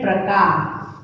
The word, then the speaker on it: प्रकार: ख्र, ग्र, म्र, राइट, प्रकार, राइट। सबसे पहले क्या है, प्रकार। देखो हमने इसमें भी प्र, प्र, र का उच्चारण किया, प्र।